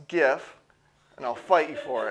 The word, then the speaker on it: GIF: It's pronounced GIF, and I'll fight you for it.